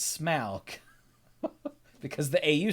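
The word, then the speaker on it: Smaug: Tolkien was very clear about how things are pronounced the dragon's name is not smog it's smock because the Au sound in the tolkien's what's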